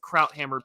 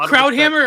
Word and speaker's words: Krauthammer: I mean, I is it Krauthammer or Krauthammer? Krauthammer. Yeah. And that's how I've always heard it pronounced on Fox News when he was still alive.